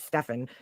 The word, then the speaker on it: Stefan: And by the way, his name is Stefan. That's how friends are pronouncing it.